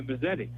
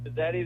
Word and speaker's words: Mazzetti: Yeah, it's spaghetti, Mazzetti. That was a call sign that got thrown around because it rhymes.